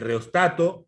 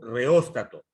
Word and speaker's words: reóstato: Eso es el funcionamiento interno de un dispositivo que tiene una resistencia variable que se llama el reostato o reóstato. Cualquiera de las dos formas se pronuncia correctamente.